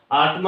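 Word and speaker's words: autumn: हैमन है हैम होगा आटम है तो आटम होगा ये ऐसे वर्ड जिसमें एन खामोश आता है और टी यहां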